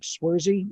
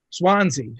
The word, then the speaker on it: Swansea: I always mispronounce the name of the department, but it's like Swarzy. Is that what it's called, BJ? Billy Gould. Sorry, say it again. Swansea.